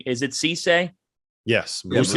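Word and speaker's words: Cissé: all right, I'm not getting bit by the pronunciation. Is it Cisse? Yes. Musa Cisse.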